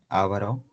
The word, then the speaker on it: avaro: tengo ávaro o avaro Cómo se dice avaro o araro avaro a avaro avaro avaro A veces lo pronunciamos como esdrújula pero es grave grave que en vocal